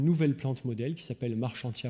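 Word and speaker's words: Marchantia: plante modèle qui s'appelle marc chantier à polymorphe a été découverte par monsieur marchand la plupart des anglophones disent marquant thiam et on devrait le prononcé à la française est en fait pour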